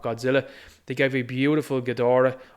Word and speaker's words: Ghidorah: they gave a beautiful ghidorah or guidor as some people will pronounce it we also have matara